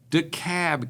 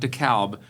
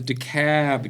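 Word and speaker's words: DeKalb: in at 775,000 people, Dicab County. Okay. Okay. And if you're not from around here, the L is silent. It's dec. And the A is long. It's not Dalb. If you call it Dalb, people will run you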